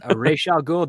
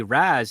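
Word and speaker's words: Ra's al Ghul: Also, it's properly pronounced Resh Al Ghul. The Raz is considered a peasant pronunciation in Arabic.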